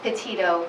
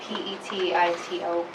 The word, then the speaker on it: Petito: Can you pronounce her last name for us? Sure, it's Petito, P-E-T-I-T-O.